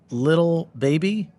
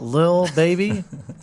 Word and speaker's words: Lil Baby: Paltrow, Jimmy Fallon, Diplo, Little Baby, I think is how you say that little, one. Little. It's the Lil, Lil. Lil Baby.